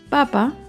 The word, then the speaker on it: papa: Papa lleva el acento en la primera sílaba. En cambio, papá lleva el acento en la segunda sílaba.